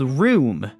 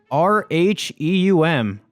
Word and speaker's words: rheum: Is called rheum. R H What the R H E U M.